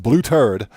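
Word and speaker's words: Blêuter'd: you heard that correctly it's pronounced blue turd blue turd champagne it's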